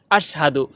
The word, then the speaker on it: আশহাদু: অনেকে বলে আশহাদু। আশহাদু হবে না, হবে আশহাদু। সঠিক উচ্চারণ আশহাদু।